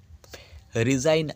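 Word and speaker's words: resign: আসছে ডিজাইন অর্থাৎ নকশা রিজাইন আর ইজ এস আই জি এন্ড দেখো এক্ষেত্রেও তাই আই এর পরে যে জি এই জি এর উচ্চারণ এখানে নেই তা হচ্ছে রিজাইন অর্থাৎ পদত্যাগ করা তারপর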